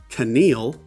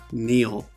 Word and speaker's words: kneel: And this isn't Keneal, it's kneel. The K is silent.